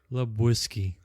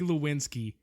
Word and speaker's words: Lebowski: Big Lebowski. Say it together with me, okay? The Big Lebowski. He went from the Big Lewinsky to the Big Lebowski.